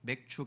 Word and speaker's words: 맥추: 오늘 맥주 감사 주일이지요 발음을 잘해야 됩니다 맥주가 아니고 맥주 감사 주일 맥주절이라는 단어가 성경에 나오는데